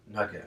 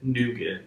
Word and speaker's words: nougat: No, like a nugget. I'm thinking like a poop? No, like a Milky Way. As nugget? Nougat.